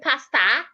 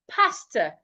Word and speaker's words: pastor: So do not say pastor, say pastor. Pastor, my pastor was not in church today, not church. We'll get to that word. So henceforth, when you're pronouncing words ending in O R, ensure that your mouth is not opened when pronouncing O and R at the end of a word.